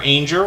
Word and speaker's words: Ainger: Good Times Homestead with Jen and Steve used to be Jennifer Ainger, rhymes with danger, with a slight name change there.